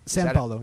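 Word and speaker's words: São Paulo: San Paulo, yeah. That's how you pronounce it? It's kind of with an N, yeah.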